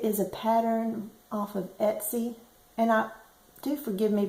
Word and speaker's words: Etsy: a bad habit of calling it YY and not Etsy so um I do know that's not the proper way to say it but YY sounds better